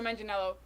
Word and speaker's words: Manganiello: And Joe Manganiello is Manganiello. I looked And up how it's to Giacchino, I think.